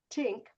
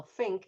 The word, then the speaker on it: think: So if I say tink or sink or um well think you would see my